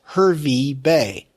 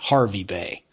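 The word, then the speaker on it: Hervey Bay: about Australia is that they don't pronounce their vowels right this is clearly h e r v y That's Her V Bay not Harvey Bay how about Kett oh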